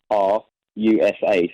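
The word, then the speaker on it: Hrusa: say it again h r u s a so it's pronounced rusa rusa what's great all right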